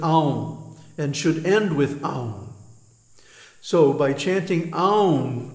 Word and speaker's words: Om: that the Pranava on don't mispronounce it ohm because first of all it has three letters a you mm-hmm and each one gets a full beat so it's not ohm it's um and then there's the Bindu the dot over the M and what does that mean well in the pronunciation it means a nasal termination and without that nasal